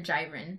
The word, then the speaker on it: Jiren: Jiren or Jiren? I think it's Jiren because in Japanese pronunciation, they keep calling him Jiren.